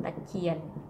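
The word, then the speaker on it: ตะเคียน: So here you see the ear sound, ear, sound like ear. All together ear, and you put K in the middle, it's called Kwa, and that's pronounced Ta Kien.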